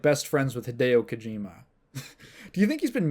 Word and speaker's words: Hideo Kojima: You'd think that with someone who's like best friends with Hideo Kojima. Do you think he's been mispronouncing Hideo Kojima's name this whole time? He's been calling him like Hido.